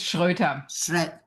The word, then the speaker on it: Schroeter: Today I am very pleased to have with me Schroer. I think I butchered that so sorry. Say your last name. It's Schroer.